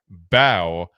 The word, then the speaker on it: Mbow: He did say bow and the M is silent. Right in the video, he said that. The M sound. That's pronounced bow.